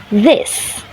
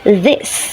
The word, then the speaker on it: this: The next example is this. In IPA, it pronounced as this, while Indonesian learners often mispronounce it as this. This errors occurs because of substitution with a voiced alveolar plosive d.